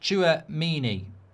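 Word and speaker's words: Tchouaméni: It's pronounced Chouamini.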